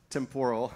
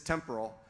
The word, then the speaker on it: Temporal: The correct English pronunciation is temporal, and I fought it for the first 6 months I was at the company, and then they shamed me into now consistently mispronouncing it as temporal. So take that for what you will. If you value the Queen's English, then it's still temporal.